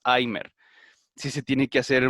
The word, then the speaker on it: Alzheimer: desde la misma forma en el caso del apellido alzheimer la h más o menos como los anglosajones pues la pronuncian como nosotros sería una jota no tan fuerte ni tan arrastrada pero más o menos porque tampoco es así geimer si se tiene que